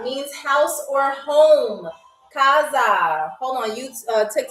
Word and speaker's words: casa: Kaza means house or home. Kaza.